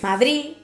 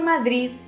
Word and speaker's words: Madrid: lengua española nos dice también es extremadamente débil la pronunciación de la de final de palabra que en el habla poco esmerada de algunas de las de españa que es fuerte hoy día los bajos estos complejos por favor pero no es un chiste y vos quien él habla poco esmerado de algunas zonas de españa tiende a perderse madrid usted verdad por